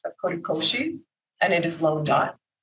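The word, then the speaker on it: kodokushi: And the colliery for older people is also this notion, and it's pronounced korikoshi, and it is lone dying.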